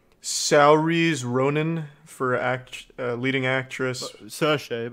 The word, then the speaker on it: Saoirse: Saoirse, but okay. Well, yeah, that doesn't look how it... That doesn't sound how it looks. That's how it's pronounced.